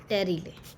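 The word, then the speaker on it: pterylae: मैं यहाँ पे आपको बता देती हूँ, देर इज समथिंग कॉल्ड टेरिले, ठीक है, पी साइलेंट.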